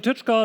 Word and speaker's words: Tyczka: it and why do we do it company touch car don't be confused by the by the pronunciation of the name by itself we are